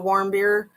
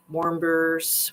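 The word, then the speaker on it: Warmbier: basically lied to Otto Warbeers Warbeer I think is how you say it. As if it's a warm beer.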